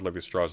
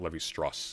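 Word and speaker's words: Lévi-Strauss: present Sunday pronouncing Claude Levy Straw's name is Levy Straw. You not all ending syllables are silent in French. That that one is though. It's not Levy St. It's Levy Straw.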